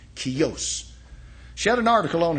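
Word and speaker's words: Kjos: Her name is Barrett Kios KJ OS pronounced Kios.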